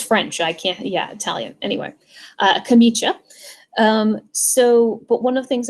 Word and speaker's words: camicia: I don't pronounce Italian. It's a camicia. It's that. I can pronounce French. I can't, Italian. Anyway, camicia.